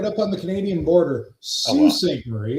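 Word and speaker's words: Sault Ste. Marie: S St. Marie. It's French pronunciation.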